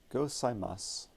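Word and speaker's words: ございます: Gozaimasu. So the U is silent.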